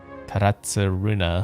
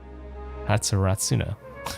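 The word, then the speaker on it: Tatarasuna: It might even morph into a abyssal beast and devour Taratsuna Ho. Tatsuratsuna. I've been saying that name wrong.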